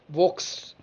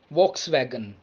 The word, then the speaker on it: Volkswagen: more german automobile company v-o-l-k-s-w-a-g-e-n not vox volkswagen it's volkswagen volkswagen volkswagen it's actually people's car that's how it is pronounced as volkswagen next we have j-a-g-u-a-r